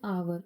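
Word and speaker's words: hour: एन आवर ओ की sound है। H silent है।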